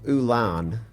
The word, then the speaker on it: Ulan: go into Australia uhhuh they call it oil of Ulan UL l n uhhuh and when they